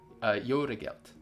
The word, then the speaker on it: Jó reggelt: Jó reggelt.